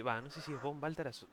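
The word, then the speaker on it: von Balthasar: no sé si es Bon Baltaras o o Fon Baltazar, ¿cómo es? Si es con V corta, pero pronunciamos Fon.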